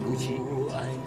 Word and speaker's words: Gucci: Tamang pronunciation, Gucci.